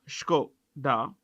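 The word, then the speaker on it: Škoda: it owns Brands like skod how do we pronounce this skod skoda okay uh Audi we don't say Audi it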